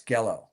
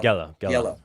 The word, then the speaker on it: Giello: to pronounce his name, Giello or whatever, the guy who was on your show. He said it's like Jello, but with a G, so it's Gello. Okay, Gello.